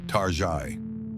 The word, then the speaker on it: Target: Consumers affectionately began pronouncing its name with a faux French accent, Tari.